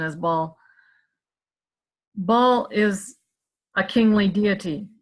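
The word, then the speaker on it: Baal: Duke and that is ball or we usually pronounce bail but actually the better pronunciation is ball ball is a kingly deity he wants supremacy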